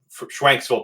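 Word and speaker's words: Schwenksville: stores um from around this area here in schwanksville Pennsylvania is how it's pronounced um so we purchased cards from local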